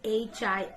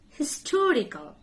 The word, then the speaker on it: history: Can you pronounce this word H-I-S-T-O-R-Y? It will be history. History. History. History. History. But historical.